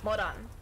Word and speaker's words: Moran: Even though her name sounds like a moron. But I'm just saying Moran because I'm trying to say her name like how it's pronounced. Or like how it's meant to be said.